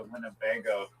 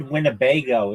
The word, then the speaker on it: Winnebago: Just the I the word Winnebago is like funny. It's Winago. It's four um syllables.